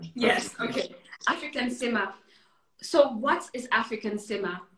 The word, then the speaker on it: Afric'An Sima: yes right you've created an app it's called african cinema am i pronouncing it correctly yes okay african cinema so what is african cinema how what is